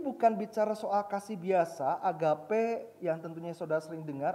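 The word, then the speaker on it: ἀγάπη: dalam bahasa kita itu bukan yetapi gama jage Agape atau di dalam bahasa Italia esnya agapao karena itu sesuatu yang aktif jadi Ini bukan bicara soal kasih biasa Agape yang tentunya sudah sering dengar adalah kasih Ilahi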